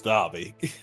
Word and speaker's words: Dobby: Dobby? Yeah, however you say his name. It's Dobby.